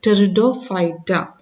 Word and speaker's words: Pteridophyta: Okay, P is silent, so we will pronounce it as Pteridophyta.